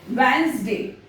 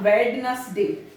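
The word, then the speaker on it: Wednesday: वेंसडे, नॉट वेडनेसडे, वेंसडे।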